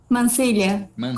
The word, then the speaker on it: Mancilla: Mancilla que pronuncia? Mancilha, como LH.